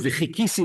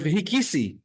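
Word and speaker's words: וחכיתי: you mispronounce the word v'chikisi lashem, and you pronounce the word v'hikisi lashem, sort of like many you can say Tamanim or Moroccans do. They say a het instead of a ches, and it sounds like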